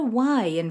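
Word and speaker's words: yī: these correctly put a y in front of each of the final sounds the first one Yi is similar to the E in he in Chinese Yi means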